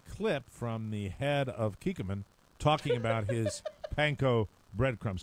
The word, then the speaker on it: Kikkoman: And he has And pronounce it correctly, please. It's Kikkoman. Kikkoman.